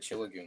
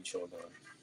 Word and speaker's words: Chillagon: I think I've said it Chillagoon this whole time when it should be Chillagon.